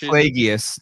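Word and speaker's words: Plagueis: like uh little cameos or hints at Darth Plagius and like really where they were going to go. Love the idea. It's pronounced Plaggius.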